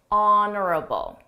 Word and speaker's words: honorable: was genuine honorable honorable notice that silent h honorable this is someone who's